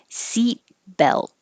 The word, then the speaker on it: seat belt: fasten fasten no t seat belt no t's you hold your tongue in the t position but you don't release it to say seat belt just seat belt so in the phrase